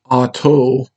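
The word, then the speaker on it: Atah: down to your forehead, vibrate Ata, though in some cases it's pronounced Ato, and then go down Malkut, Vigabura, Vigadula, Leolam, Amen.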